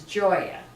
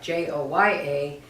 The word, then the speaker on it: Gioia: Well, the name of the business is Gioia. I tell people besides pasta and pizza, you'll learn a new word. Uh-huh. Gioia, spelled Gioia, pronounced like Joya. That's the name of the business and it means joy.